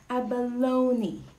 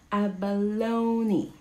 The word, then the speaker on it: abalone: word all right so our first word is pronounced okay it's actually a baloney a baloney a baloney okay indicia you know pronounced ibana